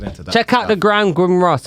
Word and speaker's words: grimoire: that check out the grand grim ross if i got that right i know the word do you mean it's definitely like g-r-i-m-o-i-r-e or some like that but i don't know how you say it what other thing were you checking out oh here we are what is it grimoire yeah and so by what's his